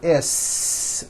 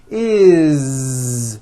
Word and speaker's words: is: When you add an S ending, this time we always add the ending is with a voiced Z.